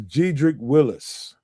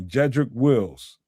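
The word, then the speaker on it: Jedrick Wills: This is Gedric Willis. Wills, excuse me, Jedric Wills is that that's the proper name way to say his name.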